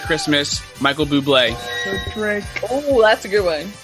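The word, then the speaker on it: Bublé: she can't stomach a Buble and I was about to fight her it's pronounced bubbly on the TV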